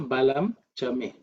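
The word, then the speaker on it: बलं च मे: Okay, so the next mantra is balan cha ma When you pronounce when you're chanting, it'll come as balan cha ma That ma is because of sandhis, but the word is actually me. So, balam chame.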